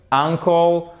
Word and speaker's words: uncle: Nephew, neveu, uncle, que vous avez uncle ici, évidemment vous mettez l'accent tonique sur la première syllabe, c'est l'oncle.